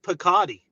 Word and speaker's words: Piscotty: I never say it correctly. No, it's Phil Piscotty. I know. Well, I always say Piscotty because of the bread. Listen, it's because I like it, or the Italian thing.